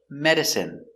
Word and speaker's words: medicine: Example, medicine, margarine, intestine, genuine, famine, and jasmine. Let's take a closer look. Our first example, medicine. Pronunciation is in medicine.